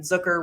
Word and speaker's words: Zucker: Free agents, Beauvillier and Zucker, rhymes with Hooker, kind of took the spot that it looked like maybe he would get back in.